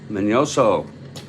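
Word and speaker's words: Miñoso: their opener here's Minnie minoso just learned he had a till day over the over his end manoso would be the pronunciation okay Ellsworth is ready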